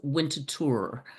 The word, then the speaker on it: Winterthur: Winterthur. It's actually Swiss, French, and it's pronounced Winterthur.